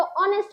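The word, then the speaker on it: honest: क्योंकि यहां पर एच साइलेंट होता है। ये एच आपको प्रोनाउंस प्रोनाउंस ही नहीं करना है। सिर्फ स्पेलिंग में रखा है। तो इसका जब हम प्रोनाउंस करते हैं तो ऑनेस्ट बोलते हैं।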